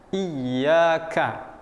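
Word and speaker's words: إِيَّاكَ: Nah, ya bertasdid ini maka kita akan tekan sedikit. Iyyaka.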